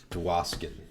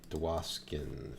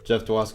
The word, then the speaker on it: Jeff Dwaskin: i want to include jeff tawaskin dewaskin that's how you pronounce it jeff dwaskin is uh with hashtag